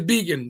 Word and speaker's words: Begin: Well, from the man himself, what is the correct pronunciation? It's vegan.